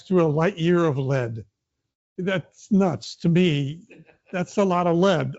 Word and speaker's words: Lead: to lead I don't I think it's pronounced lead not lead to lead south Dakota